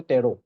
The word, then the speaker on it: Tarot: শিখিয়াতে আরো সাব টেরো তো এই টি টু উচ্চারণ হয় অকল কি বলি কয় যে টেরো ঠিক আছে কারণ আমি যেটা কোর্স করি অকল